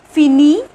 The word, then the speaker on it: fini: With il and elle we add it, so fin and it, so it becomes fini, okay. Pronunciation is same in all these, fini.